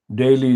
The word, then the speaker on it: Daley: fascist anti-democratic american jannah daily daley is spelled d-a-l-e-y but she has been